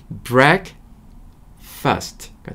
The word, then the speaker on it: breakfast: 물론 이게 break랑 fast가 모여서 breakfast라고 하면 참 좋겠지만 발음은 breakfast가 됩니다.